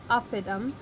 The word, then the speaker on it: oppidum: Down here we've broken it into its syllables. 3-syllable words starting at the end, going back one. Is it long? It's not. So our accent goes here. So oppidum and oppidi.